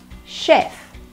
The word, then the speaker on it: chef: one step the C8 sounds like shh not s chef chef okay next one